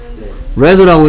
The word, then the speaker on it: read: 그 다음에 여기에 이 녀석은 뭐라고 읽어야 돼? red라고 읽어야 되겠죠. 그쵸?